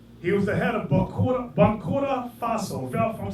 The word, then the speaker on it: Burkina Faso: He was the head of Burkina Faso.